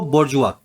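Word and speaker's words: bourgeois: Spelling लिखी जाती है बोर्जियोस। बोला जाता है इस वर्ड को बोजुआ। स्पेलिंग क्या लिखी गई है? बोर्जियोस। बोला क्या जाता है? बोजुआ।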